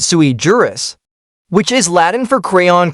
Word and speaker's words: sui juris: the words right because it's not sujurus, it's sui juris, which is Latin for